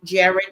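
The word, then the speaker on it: Jaret: That's what we're talking today, Jared.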